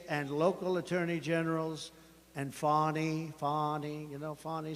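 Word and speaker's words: Fani: including local Das and local attorney generals and fonnie fonnie you know fonnie spelled f a n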